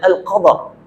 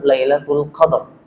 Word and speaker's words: Lailatul Qadr: kemuliaan yang disebut dengan al-qadar jadi cara membacanya Bapak Ibu yang saya muliakan kalau disebut malam alqadar kurang tepat dalam kaidah bahasa Kalau kita sebut dengan malam Lailatul Qadr karena lailah ini juga